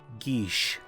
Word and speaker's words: Geas: The proper pronunciation is Geesh.